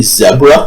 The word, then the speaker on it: zebra: horses did you say zebra yeah I snuck in the English uh Zeb rhymes with Deborah zebra that's I think that's how they pronounce it I believe okay